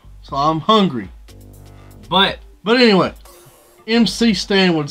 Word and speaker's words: MC Stan: We got McStan, I think, or MC Stan. Still don't know how to pronounce it. I thought it was MC Stan. He pronounced it McStan.